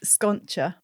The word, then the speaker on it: Sconcia: It's pronounced Sconcia, my last name, but I also Sconcia because it's Sconcia. Yeah. Because the C and the I in Italian is a ch sound.